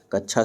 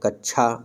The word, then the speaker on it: कक्षा: हैं अगला क्वेश्चन है हमारा शब्द का शुद्ध उच्चारण होगा कक्षा शब्द का शुद्ध उच्चारण किस प्रकार से हम करेंगे यह हमें देखना है ऑप्शन ए कच्छा बिल्कुल गलत लिखा है कक्ष गलत होगा ऑप्शन